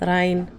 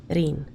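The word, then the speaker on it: Ryne: Not Ryan. Reen. Reen. It has an I there, or Y there, but it's not supposed to make the Y sound.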